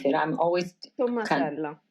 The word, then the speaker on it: Tommasella: How do you pronounce it? I'm always... Tommasella. Tommasella.